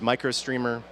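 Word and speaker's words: µStreamer: doing this to use micro streamer it's much better that's it's used you streamers how it's spelled but you say micro streamer so two it'll actually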